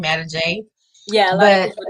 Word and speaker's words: Adige: Adige, which, I mean, I was just trying to see how to pronounce it, and Adige was the first thing that came to mind. So to put it all together, Adige came from God, and